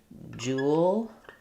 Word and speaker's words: jewelry: I like to pronounce it as jewelry. So thinking about that, just like jewelry, because jewel, if I